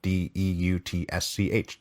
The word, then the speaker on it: Deutsch: And I'm sure I'm mispronouncing that, but that's his name. D E U T S C H. Deutsch. So, I'm going to say Deutsch.